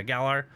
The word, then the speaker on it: Galar: Or even like the Glail region or whatever, however pronounce the newest region. Galar. Yeah, Galar.